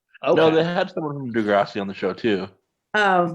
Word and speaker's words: Degrassi: Is it pronounced Degrassi or Degrassi? Yes. Degrassi.